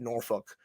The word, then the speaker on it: Norfolk: And also, I'm going to make fun of you for this because you said Norfolk. That's how it's pronounced.